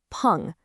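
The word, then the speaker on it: 풍: This is pronounced pong and it means wind.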